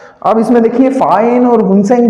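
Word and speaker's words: Faxian: तो आप तीनों के नाम लिख लीजिएगा, फाहेन, फिर आते हैं हमारे हुनसेन, और फिर आते हैं आई सिंह।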